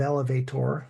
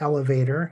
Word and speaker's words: elevator: yell Yeller Elevate elevator I'm emphasizing the O of elevator so you don't see it as elevator because of the way it's spelled but it's elevator in common speech pontificate which means